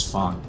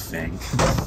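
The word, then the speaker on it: Feng: that her name is Fong not Fang yeah so all these years it's just been Fang to gets dropped and I was F maybe it's always been fun and just never known how to pronounce it I'm so bad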